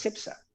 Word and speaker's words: Cepsa: tal y como es y yo le decía perdona pero tal y como es en canarias es cepsa tal y como es